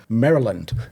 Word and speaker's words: Maryland: on us about was my pronunciation of Mryland. Now, I'm looking at it and it says Mryland. But what is it? It's Maryland. But how? I don't know, mate. They're out to get you. Don't you know? Well, I can't pronounce at the best of times, but yeah, Maryland is how you pronounce it.